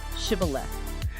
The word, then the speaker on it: Shibboleth: See, in the Ephromite dialect, they didn't have the sh. They could only pronounce it with an s. So they'd say cibilith.